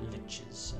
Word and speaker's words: liches: Lots of power liches, as I've found out. That's how you pronounce that word.